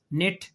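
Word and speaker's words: knit: तो के खामोश यह देखें हो गया गौर करें के एन इकट्ठे आए के खामोश है ना निट नाइफ नॉक ऐसे ही है ना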